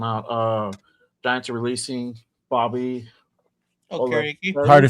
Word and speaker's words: Okereke: Okereke. Hard to say his name. How do you say his name? Bobby Okereke.